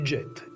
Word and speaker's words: Djet: In '65, they created the Djet. And as Jean-Luc Chinet used to say, the 'D' is silent.